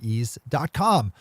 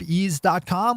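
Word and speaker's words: Eaze: pay for when you place an order through ease calm properly tested labeled and packaged top-notch legal cannabis products find out just how easy legal California marijuana delivery can be with ease just open up easy calm which is spelled e a-z e and get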